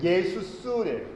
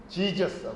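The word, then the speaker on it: Ἰησοῦς: 처음에 I는요, 영어로는 J라고 쓰잖아요. 근데 원어로 보면 이 I예요. 예수스래요. 예수스. 영어는 전부 발음을 바꿔버렸어요. 우리는 한국 사람이 성경을 읽을 때 우리 예수라고 읽죠. 전 세계 대부분의 나라가 원래 예수님의 이름이 예수스 이렇게 읽는 이 이름을 따라 예수스 이렇게 읽는데요. 미국 사람들은 어떻게 읽어요? 예수를 갖다요. 지저스라고 읽어요. 발음이 완전히 바뀌어버렸죠.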